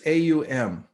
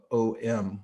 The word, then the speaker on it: Om: It's 3 letters, A-U-M, and it's in Sanskrit, it becomes through the rules of combining vowels, it becomes O-M with a dot over the M, and it's pronounced Om, Aum.